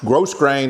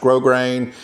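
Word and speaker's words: grosgrain: r a i n it's not pronounced gross grain it's pronounced grow grain and that just means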